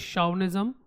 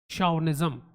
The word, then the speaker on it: chauvinism: The pronunciation is chauvinism, so mind the pronunciation. It starts with ch, but it is chauvinism.